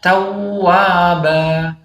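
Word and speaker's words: تَوَّابًا: Ini bacanya tawwaba, bukan tawwaba. Ta.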